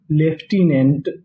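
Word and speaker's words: lieutenant: और आगे लिखा है एल आई ई यू टी ई। इसे हम लोग यहां पे पढ़ेंगे लेफ्टी। क्या पढ़ेंगे? लेफ्टी। ये हमारी बिल्कुल अजीबोगरीब मीनिंग है। तो मीनिंग क्या बनी? लेफ्टिनेंट।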